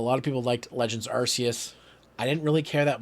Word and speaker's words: Arceus: Is that how you pronounced it? Yeah, Legends Arceus.